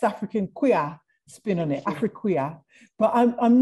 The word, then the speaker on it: Afriquia: and going, oh, it's Afriqueer, what is it? And you were like, no, it's just Afriquia, that's just what it is. It's just spelled in a different way.